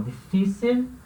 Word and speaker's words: difícil: tem que ter cuidado com esse L aqui. Então é difícil, difícil. Esse L, ele tem som de L.